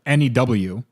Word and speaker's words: Nguyen: Vincent Nguyen says it's pronounced win. No, it says N-E-W. New. It's not win.